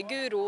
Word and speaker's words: Guro: spör ju varje dag liksom och jag säger Guro och det är Guro alltså liksom det får det inte till.